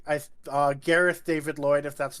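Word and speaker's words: Gareth David-Lloyd: that right I uh Gareth David Lloyd if that's not what I said I've I feel like I've heard myself put an extra D in there foreign so those are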